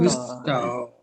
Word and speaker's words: gusto: Gusto.